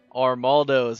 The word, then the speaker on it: Armaldos: But we are going to end up moving on to number 11 in the Armaldos.